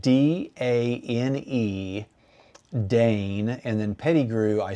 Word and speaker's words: Dane: And so Dane Peddigrew popped into my head and I thought, I'm gonna do these quotes and make the quotes from a imaginary guy named Dane Peddigrew.